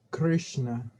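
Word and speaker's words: कृष्ण: bien vamos a ver la s tienes que ir hacia la lengua hacia atrás un poquito no no la lengua hacia atrás sino la punta de la lengua se pega al paladar y se se hace hacia atrás un poco y ahí se pronuncia lambert grave 13 en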